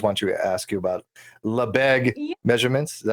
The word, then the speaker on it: Lebesgue: So if anybody does want to ask you about Lebesgue Yeah. measurements, is that how you pronounce it? Lebesgue? Yes, Lebesgue.